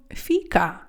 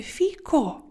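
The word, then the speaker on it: fico: не чоловічий тому що ви вимовляєте слово Фіка а потрібно говорити фіко манж жлафійка корло йогурт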